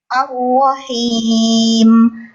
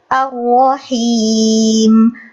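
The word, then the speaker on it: الرحيم: Hanya saja mungkin sedikit koreksi untuk tanda kasroh itu diperjelas, bibir bawahnya turun, him. Pada Ar-Rahim, Ar-Rahim, Ar-Rahim.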